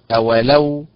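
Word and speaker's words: أولو: زائد لو ثلاث كلمات اذا تنطق اولو فعل بالنبر على حركه اللام وليست اولو بالنبر على حركه الهمزه وليست اولو بالنبر على حركه الواو اذا هي اولو اولو هكذا كذلك اولم النبر على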